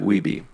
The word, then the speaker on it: Wiebe: Is that how you pronounce his last name? Yeah, Mike Wiebe.